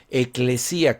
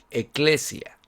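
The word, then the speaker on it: ἐκκλησία: Ahora, el término iglesia en en griego se se se escribe como eclesía con doble k e k l e s i a. Eclesía o eclesia.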